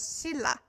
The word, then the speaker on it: Silla: So I know it is written as Shinla, but it is more pronounced as Silla.